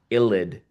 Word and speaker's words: ylide: That's yl, ylide.